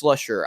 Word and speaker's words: Slusher: it's Slusher so thanks for trying to pronounce my name it's Slusher I'll linked him on